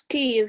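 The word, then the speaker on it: Kyiv: It is Kiev, yes.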